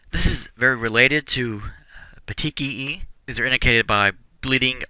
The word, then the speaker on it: petechia: circumscribed area this again see the next one petechia is how that word is pronounced these are very very small pinpoint bleeds